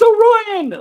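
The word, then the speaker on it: Orion: a character correct the pronunciation of orian it's pronounced oryan like okay big big kudos for that I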